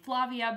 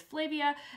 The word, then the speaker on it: Flavia: It is about this girl named Flavia, who I always say incorrectly. I say her name Flavia, but it is Flavia de Luce, and she begins